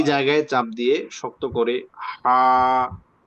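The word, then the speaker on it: ح: আচ্ছা, তো এখানে একজন জিজ্ঞাসা করছিলেন যে হায়ের পার্থক্য নিয়ে। তো পার্থক্য আছে, যেটা 1 নম্বর হলো যে উচ্চারণগত পার্থক্য।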